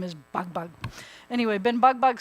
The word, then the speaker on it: Ben Bag Bag: that name Ben bugbug some people pronounce it Ben bagbag that's only in the south that they say Ben bag bag it's really supposed to be Ben bug bug um the same people